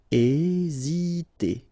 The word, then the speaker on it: hésiter: Hésiter. Okay, remember that H doesn't exist, so we don't pronounce it, and the first thing you will pronounce is this vowel here, E accent aigu, E. Hésiter.